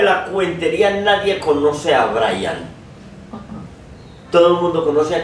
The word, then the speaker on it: Brahian: Se llama Brian, pero Brian así, no el Brian, no es el Brian con H. Los españoles lo pronunciarían Brian, ¿no? Porque ellos aspiran a la H, Brian.